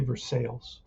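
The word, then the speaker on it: Versalles: so um from Minnesota it's going to be Versailles I think I've heard them say for sales but Billy Martin batting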